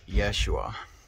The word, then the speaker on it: Yeshua: saying jesus loves you you should say yeshua or joshua joshua loves you and that would be the the direct the the correct way to say it if you want to